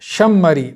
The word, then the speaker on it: शमरी: उनके शागिर्द हैं अब्दुल्ला बिन इब्राहिम शमरी हां ये जैसे मैं प्रोनाउंस कर रहा हूं ना यह इसको याद रखना है शमरी शमरी और हां तगुबी तगुब